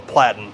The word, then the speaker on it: platen: What the Well, shirt rides on is called a platen. Yes. Platen. Uh-huh. Like a plate with an N.